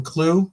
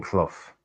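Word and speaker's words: Clough: has Brian clue right that's how I pronounce the name c l o u g h right how many times has he won the cup as a manager uh Brian Koff KF K as if it's C uff I got you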